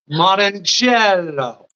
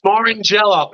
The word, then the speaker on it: Morrongiello: Morrongiello. Ah, Okay. Well, I didn't say it like No, that. it's Morrongiello.